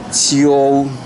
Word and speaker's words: 秋: so it's yu, yo, so it should be qiu, qiu, u, qiu, qiu. So you listen to the professional how she pronounce it and with the music, and believe